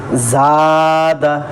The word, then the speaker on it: زاد: زبر کو تھوڑا بھی نہ کھینچے۔ دیکھیے زا الف زبر زا، دال زبر دا، زاد، خاف،